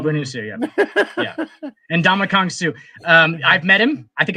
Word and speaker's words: Ndamukong Suh: His first name is pronounced in Donkey Kong. And Donkey Kong's and Donkey Kong, a boy named Sue. A boy named Sue, yeah. And Ndamukong Suh.